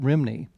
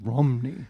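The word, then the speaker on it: Rhymney: And she went on to tell me the RHY sound in Welsh is pronounced like ruh, like a U, you know. So it's not Rimney, it's Romney.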